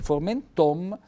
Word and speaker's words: formenton: il grano saraceno naturalmente formenton l'accento tonico cade sulla o e l'accento fonico diventa una bella centro fonico chiuso chiudiamo con gli ultimi